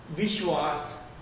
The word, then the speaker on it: विश्वास: दूसरा वाला सही वर्तनी है और उच्चारण के अनुसार बच्चों देखो, विश्वास, विश्वास, विश्वास कहा जाता है।